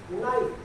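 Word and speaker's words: knight: दूसरा इसके बाद है नाइट। के बाद क्या आया है? एन आया हुआ है, के क्या रह जाएगा? साइलेंट।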